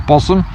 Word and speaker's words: Bosham: And the key to Fishbourne Roman Palace is that it's right next to Bosham, or Bosham as it's pronounced, and this is a water inlet from